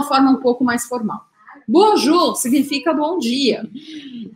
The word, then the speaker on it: bonjour: Mas eu vou deixar escrito bonjour. Vamos simplificar, porque a gente tem bastante coisa para ver. Aí como que eu pronuncio isso aqui? O O-N... é igual em português, bom, um, tipo bombom, tá? Bonjour.